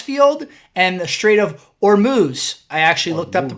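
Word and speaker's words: Hormuz: The South Pars gas field and the straight of Ormuz. I actually looked up the pronunciation. It is or moo.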